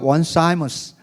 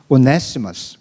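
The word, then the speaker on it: Onesimus: 구글에서 찾아보니까 원사이머스 그렇게 발음하고, 그런데 정통한 사람의 소식에 의하면 오네시머스 그렇게 발음한대요.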